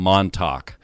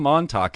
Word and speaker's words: Montalk: we talk with Tom Montalk. And that is spelled Montalk, like talk, like you're talking, just so you don't get that confused with the Tauk. So anyway, Tom Montalk is our guest tonight,